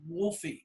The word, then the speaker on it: Wolfie: And I go, "It's Wolfie, like Wolf, short for Wolfgang Van Halen."